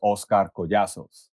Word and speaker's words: Oscar Collazos: to get technical my my real name is oscar yasos right so that's how i was born in colombia and that's how you would say my name um but when you